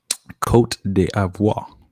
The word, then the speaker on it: Côte d'Ivoire: So I'm gonna go with Nigeria, and I'm also going with Côte d'Ivoire, or the Ivory Coast. Good sir. Yeah. How do you pronounce the second one you said? Côte d'Ivoire.